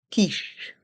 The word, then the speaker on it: quiche: Et ici, il faut bien se rappeler que le Q et le U se prononcent que. Ils forment un seul son. Here we must remember that the Q and the U form one sound. The sound K.